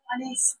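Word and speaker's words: honest: ও ইউ R hour হচ্ছে এই যে এখানে সাইলেন্ট থাকছে তাই এখানে কি হয়ে যাচ্ছে অ্যান আওয়ার ঠিক আছে ড্যাশ অনেস্ট অনেস্ট ম্যান ঠিক আছে তাহলে এটার ক্ষেত্রে কি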